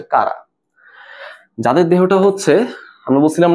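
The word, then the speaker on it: Chara: অনেকে চারা বলে। সঠিক উচ্চারণ হচ্ছে কারা।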